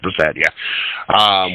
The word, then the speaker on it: Brissett: more so keep Jacoby Brisket, Brisket, I think how you say it, Brissett, how you say his name, Brissett, why we did not